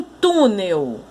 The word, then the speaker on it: túnel: Então, em túnel, a sílaba tônica é o tu, porque é a sílaba que tem o acento.